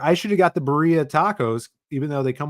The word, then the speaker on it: birria: It's birria. No, they're spelling it wrong. It's spelled with an I. Birria?